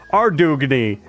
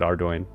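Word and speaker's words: Ardougne: at least in my own head, it was Ardugny cuz I had no idea how to pronounce it, but then I saw the devs pronounce it on the things and they said Ardoin.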